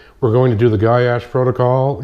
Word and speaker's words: Goyetche: do the gash protocol gy as is guy and Ash uh that's my name in case somebody doesn't know how to to say it or pronounce it that's how you do it it's really not but it's close enough um that's how I pronounce it myself but that's fine uh